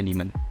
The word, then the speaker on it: daemon: Tulisannya daemon tapi bacanya demon.